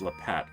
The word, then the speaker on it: La Pat: pet le la pat am i pronouncing that right la pat the druid i think i said le pet before but i'm looking at it's la pat i uh i take